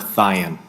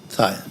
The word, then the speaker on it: Theon: Sheriff Theon, is that how we pronounce your name? What is the correct pronunciation? Yes, Chairman, it's Sheriff Theon. Theon.